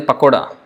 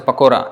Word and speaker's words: pakora: you know pakora pakora and Hindi is a pakoda a coda but it's pronounced as pakora in in Bengali pakora so sometimes it can